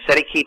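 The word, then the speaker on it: cestui que: allegations of the beneficiary and that CEST K which we've been mispronouncing that's the way it seems to be if you pronounce by looking at it but is really it's set s t and then te and the second word is ke so it's set set K set key so I have to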